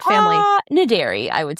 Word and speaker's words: Naderi: Is that pronounced Naderi? Yeah, well, Naderi. We'll go with Naderi. that. Naderi. It's E-R-I. It's Farsi? Persian.